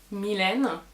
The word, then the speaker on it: Mylène: from paris france well my name is actually milena but english people have trouble pronouncing it so they often call me